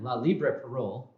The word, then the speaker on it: La Libre Parole: Now, this guy here, in La Libre Parole, Justin, is that how I pronounce it?